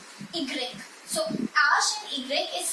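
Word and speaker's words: i grec: this is h we say ash and it's egreg so ash and igrill is sometimes considered as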